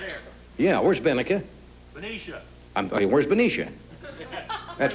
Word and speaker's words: Benicia: From Benica, California. Where's Benica, California, Jim? Where's Jim? Are you here, Jim? Right here. Yeah, where's Benica? Benicia.